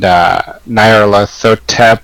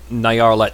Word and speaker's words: Nyarlathotep: I usually say Nyarl at Hotep, because that's the closest to the Greek transliteration of Egyptian that we currently use.